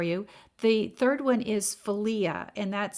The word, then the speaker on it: philia: two more for you the third one is felia and that's spelled p-h-i-l-i-a philia and that's a brotherly love and that's